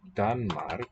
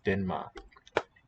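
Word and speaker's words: Danmark: name spelled this way in danish like danmar you might expect but the n colors the r to an n denma which is why we spell it with an e sounds like that sorry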